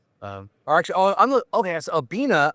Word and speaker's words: Abbina: So, a A B I N A and it is the There we go. It's the Italian word for to pair or to match.